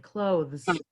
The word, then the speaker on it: clothes: And then the last, clothes, I pronounce the TH actually, clothes, right?